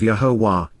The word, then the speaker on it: Yahowah: min olam, and forevermore, Yahowah, Yahowah, the proper pronunciation of Yahowah, our Eloah, God has directed in his Torah, teaching regarding his Hayeh, existence and our Shalom, restoration.